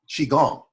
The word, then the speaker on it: qigong: about uh who taught qigong which can also be pronounced qigong and this is the